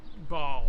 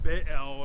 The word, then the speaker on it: Baal: Now, this was in defiance specifically of the god Baal or Baal or Baal. It's B-A-A-L, and it's pronounced many different ways.